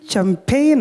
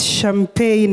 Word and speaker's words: champagne: Did you say champagne or something? It's champagne and not the way you pronounced it, but that was a good submission.